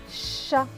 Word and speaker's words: chat: Et le T à la fin est écrit en bleu, donc il ne se prononce pas. Donc ce mot va se lire chat.